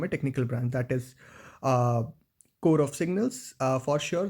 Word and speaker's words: Corps: If I'll say coming from a technical branch, that is core of signals. For sure, the spelling looks like CORPS, but it is pronounced as core.